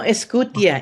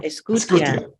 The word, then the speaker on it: Escutia: Yes. Escutia. No, Escutia. Escutia. Thank you for pronouncing it correctly.